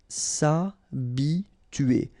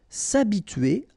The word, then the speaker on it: s'habituer: S'habituer à. So remember, H is not pronounced here, so it's a, and then tuer here. T-U-E-R, tuer. S'habituer. S'habituer à.